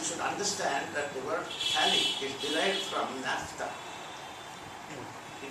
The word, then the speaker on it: phthalic: understand that the word phthalic is derived from naphtha. It is a crude oil byproduct. Naphtha spelling you should know. NaPHTAT. Phthalic is dropout Na, not P. So it is PTHLIC. P is silent.